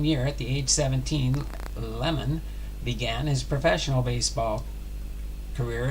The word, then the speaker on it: Lemon: Lemon. Okay, kind of like the fruit then. Lemon, huh? Not Lehman, but lemon. Like the fruit.